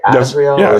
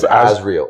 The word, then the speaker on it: Azrael: Am I saying it right? Azrael. Azreel. It's Azriel, right?